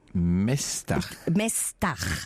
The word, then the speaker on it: Mesdag: Donc ça s'appelle le Mestar. Mestar, ça s'écrit Mesdag. Mesdag.